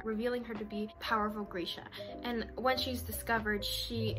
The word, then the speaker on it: Grisha: Also, apparently it is Grisha, not Grisha. I was right. If any of y'all watched my Rule of Wolves video, I was pronouncing it Grisha because I saw someone else say that was how you actually pronounced it. It's not, it's Grisha. I was right the entire time.